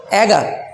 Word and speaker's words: eager: इसे आप एगर भी बोल सकते हैं, EAGER, और आप इसे ईगर भी बोल सकते हैं। Spelling will be same, EAGER। एगर बोलिए, ईगर बोलिए, कोई दिक्कत नहीं है, दोनों का मतलब एक है।